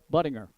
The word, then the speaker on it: Buttinger: I said, young man, I've heard your name pronounced Buttinger, and I said, say it for me, will you? He said, Buttinger. I said, okay, I got it.